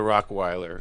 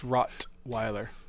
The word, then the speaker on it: rottweiler: don't mess with the rockweller if he's not your walkway you say rockweller he said rockwell he said rockwyler is that a bad pronunciation or is that i mean it's rottweiler hello good morning but